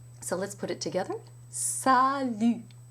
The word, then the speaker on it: salut: You want to keep that tongue forward. And one way to do that is to push the tip of the tongue very hard against the lower teeth.